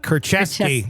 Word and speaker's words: Kurczewski: criminal complaint filed in June of 2021 uh keski that's how you say her name so many